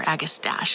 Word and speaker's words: Agastache: This is Apache Sunset Agastache or Agastache as some people pronounce it.